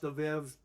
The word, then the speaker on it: Abib: These names that you see here, Abib is pronounced Aviv because the B in Hebrew sounds like a B, but I've heard people say Abib and Aviv, so it doesn't really matter.